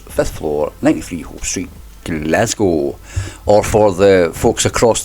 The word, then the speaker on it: Glasgow: Or for the folks across the pond, you say Glasgow, don't you? Which I never understood, and then I realised it's because the word cow, and Americans think that we should just pronounce it gow. Glasgow, guys. Get rid of that W.